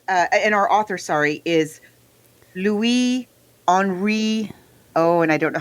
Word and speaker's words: Henri: And he also he himself took to spelling his first name with a Y. It's normally spelt with an I in French, but he changed it.